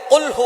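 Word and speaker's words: قل هو: আল্লাহ পাক রাব্বুল আলামন এখানে বলছেন কুলহু আল্লাহু আহাদ। এখানে কফ দিয়ে পড়ছেন কিন্তু অনেকেই ভুল করে উচ্চারণ সঠিক না হওয়ার কারণে তারা পড়ে কাফ।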